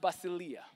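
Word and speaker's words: βασιλεία: see the word Kingdom and the Greek is pronounced basilia it's Dominion it's Sovereign it's rule it's a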